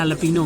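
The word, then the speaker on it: jalapeño: तो आपने स्पिनिच जैलापिनो नहीं मंगाया है, बिकॉज स्पेन में जे को जे प्रोनाउंस नहीं होता, तो इसको एलापिनो बोलते हैं।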